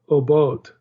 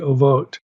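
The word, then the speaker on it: Oboth: And one is the Old Testament place name Obot. That's O-B-O-T-H. It's a place name, and it's also a term for underworld spirits, the Ovot.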